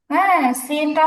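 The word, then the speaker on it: سين: মধ্যে পার্থক্য করিনটা হচ্ছে সিনটা হচ্ছে কি বলা যায় চিকন বলা যায় তুলনামূলক চিকন সদের উচ্চারণটা হচ্ছে সিনের চেয়ে মোটা সিন হচ্ছে তুলনামূলক চিকন উচ্চারণ তার সদ হচ্ছে কি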